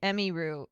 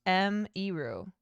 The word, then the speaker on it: Emiru: Rather than say Emiru, it's pronounced M-Eru.